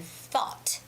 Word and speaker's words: thought: So when you're making the pronunciation, when you're trying to pronounce the word thought, you see how you can see my tongue? It's thought. When you look from the side, you can tell that thought, I'm sticking out my tongue.